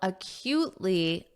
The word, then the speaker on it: acutely: Many people are now acutely aware. Acutely, notice that pronunciation, cute.